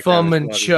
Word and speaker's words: Fu Manchu: It's actually Fu Manchu. Oh, pronounce it right.